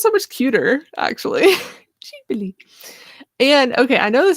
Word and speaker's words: Ghibli: Ghibli. I gotta keep practicing that. Studio Ghibli. That sounds so much cuter, actually. Ghibli.